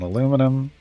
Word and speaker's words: aluminum: In the United States, there's only one I, and aluminum.